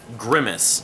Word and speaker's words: Grimus: talk about this band grimace gri mus grime is grimace Remis it's not spelled like the McDonald's character though when I first got